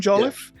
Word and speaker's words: Joliffe: I'm terrible with last names so it's jolliff the writer of movies like fire NATO which